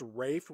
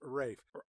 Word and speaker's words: Ralph: ray Fiennes which but why is his first name pronounced Rafe when it's spelled Ralph well because he's British